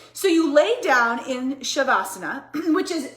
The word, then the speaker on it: shavasana: And you get into shavasana, which by the way, it is pronounced shavasana, not savasana.